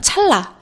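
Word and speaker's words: 찰나: 자, 찰라 요거 자연스럽게 발음하면 찰라 발음을 하게 되죠. 그래서이 니은 니은이 앞에 있는 리을 때문에 리을로 바뀌어 소리가 나서 우리가 유음화라고 부릅니다.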